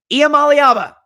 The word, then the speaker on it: Iamaleava: niiko Yama Al I'm gonna say it right IEM Alaba is gonna light the world up on fire